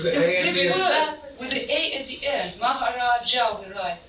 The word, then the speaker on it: Maharaj: Maharaja we write. In the books it's written Maharaja. Yeah, because the books are literal. Yeah, but we pronounce Maharaj.